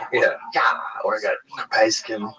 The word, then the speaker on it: capsaicin: Or I got capsaicin.